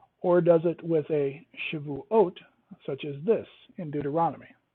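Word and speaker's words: שבועות: Now, in shavuot, that is the correct way to say weeks. Shavuot. ot. It adds the ot, not an I, not an im at the end of that.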